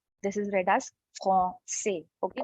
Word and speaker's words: français: Okay, so the way we write it is français, but we do not pronounce the end consonant. Okay, this is read as français. This is read as français. Okay, not français.